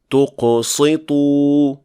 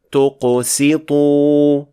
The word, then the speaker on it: تقسطوا: یہاں سین کا غلط تلفظ کر کے اسے صاد پڑھ دیا گیا کیونکہ یہ قاف اور طا سے متاثر ہو گیا تھا جو کہ دونوں موٹے حروف ہیں، جبکہ اس کا تلفظ اس طرح کیا جانا چاہیے۔ تقسطوا.